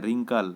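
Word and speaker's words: wrinkle: रिंकल, इसमें आर से ही हो जा रहा है रिंकल, लेकिन डब्लू है स्टार्टिंग में, डब्लू साइलेंट है।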